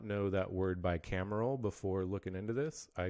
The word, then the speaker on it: bicameral: And so state legislature is bicameral body consisting of a lower house, which is